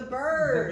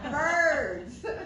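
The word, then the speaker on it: Byrds: Eagles the Eagles bir it's the birds bir bird okay not spelled the same but it's the birds so I'm here to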